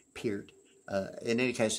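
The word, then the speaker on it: Peart: Pier you know I I normally pronounce Neil Pier I've heard him he himself say his name last name is pronounced Pier uh in any case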